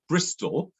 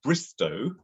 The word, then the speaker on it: Bristol: image of bristol uh which was originally called bristow but bristolians add an l uh at the end of every uh word ending with a with a vowel i think every any vowel or just certain ones so bristow bristol became bristol uh so all the